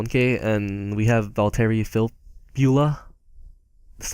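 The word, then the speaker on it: Filppula: he goes for 1K and we have valtteri Phil Beulah that's how you pronounce his name yeah uh he's he's so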